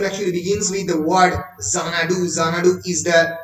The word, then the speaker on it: Xanadu: If you pronounce the word Xanadu, it actually begins with the word Zek, Za-na-du. শুরু হচ্ছে যা দিয়ে, যখন এই যা উচ্চারণ করছো, Z is actually the last letter of the English alphabet.